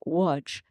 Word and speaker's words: Łódź: It's actually starts with an L, L-O-D-Z, but it's pronounced Łódź.